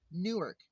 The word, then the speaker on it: Newark: Newark.